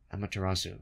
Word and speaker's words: Amaterasu: Amaterasu.